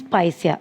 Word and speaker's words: Picea: This pronunciation is Picea, not Picea, Picea.